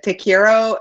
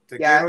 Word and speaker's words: te quiero: Tell us, Rob, the difference between Te Quiero and Te Amo, and can you pronounce them for us? Tell Connie like, that you love tell her. A friend. Te Quiero, you would tell a friend, and Te Amo,